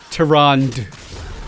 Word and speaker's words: Tyrande: Tyrande.